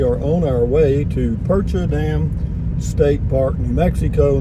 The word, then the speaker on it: Percha: 78609 and we are on our way to percher dam state park new mexico near truth or consequences not too far off the off of interstate 25 it's spelled p-e-r-c-h-a percher dam to state park smaller and you go